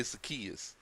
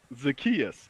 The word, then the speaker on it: Zaccheaus: How you pronounce his last name? Zamachias? Olamide Zaccheaus. Zacchaeus.